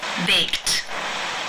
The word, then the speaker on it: baked: pronounce this word the final sound of the verb in the infinitive form to bake is the k sound it's unvoiced therefore the Ed is pronounced unvoiced with the T sound baked baked how do you